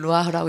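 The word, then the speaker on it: רוח: 이걸 루아흐라고 읽는데 요거는 묵음이에요. 소리가 잘 안 나요.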